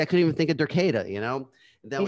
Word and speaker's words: Derketa: See, I couldn't even think of Derketa, you know?